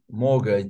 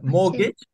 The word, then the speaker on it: mortgage: a car but mortgage mortgage then we say that it's a loan to buy a house the loan loan is correct okay uh mortgage yeah mortgage is silent T is silent iina so mortgage ised